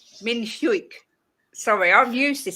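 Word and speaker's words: Min-hyuk: there's any chance we see the likes of Hook? Is that how I say his name? Hook today in the starting 11. Min Have I said Hyuk. that wrong? Min Hyuk. Min Hyuk.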